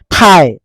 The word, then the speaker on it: thigh: সাইলেন্ট হৈ থাকিল হাই ঠাই ঠাই GHটো লগত আছে যদি এইটো সাইলেন্ট ঠাই কিন্তু আমি লিখিবলৈ হলে আমি THIGH লিখিব লাগিব ঠাই ৰাইট RIT ৰাইট